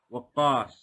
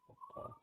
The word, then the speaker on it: Waqqas: Waqqas. Wow. Waqqas.